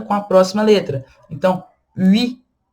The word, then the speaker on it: huit: Então, huit é a letra 8. Tá? Aqui também é uma exceção, o T ele é pronunciado. Huit.